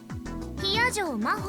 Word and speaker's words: Hiyajo Maho: Hiyajo Maho って読むの。